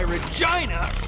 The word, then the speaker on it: Regina: And that's why Regina rhymes with fun.